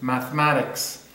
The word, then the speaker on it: mathematics: Look at this one, mathematics. The stress here is mathematics.